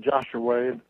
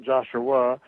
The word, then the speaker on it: Joshua: of Dallas and in a small town called joshu which spelled like the book in the Old Testament they pronounce it joshu not Joshua but I was born to a couple of